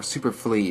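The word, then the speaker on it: Superflii: Fly spelled F-L-I-I. You haven't signed in a year, Superfly. Or Superflee, if it's like pronounced like Wii, like Nintendo Wii, Superflee.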